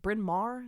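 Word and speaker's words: Bryn Mawr: Went to is it Binmar? Is that how you pronounce that? Yes, Binmar.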